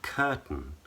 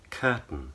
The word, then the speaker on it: curtain: So, for example, in the word curtain and certain, curtain, certain, there's actually one of two pronunciations, which are quite difficult to explain. I'm not going to go into a great deal of detail, but one option is to use what's called a schwa and to say certain, ton.